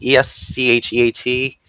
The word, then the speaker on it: escheat: Dollar balance, how do we pronounce it? Escheat? E-S-C-H-E-A-T?